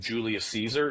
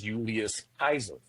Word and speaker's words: Julius Caesar: my recent lives is the pronunciation of Julius Caesar is very American, very English. The way that it's actually pronounced is Julius Kaiser.